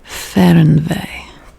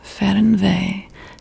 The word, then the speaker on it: Fernweh: F E H R N dash V E Y H. So this is German. I believe that this is pronounced Fernweh.